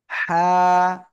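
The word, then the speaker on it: ح: এই অক্ষরের নাম কি হা গলা চেপে উচ্চারণ করতে হবে আর হালকা বাতাস বের হবে ঠিক আছে আর এই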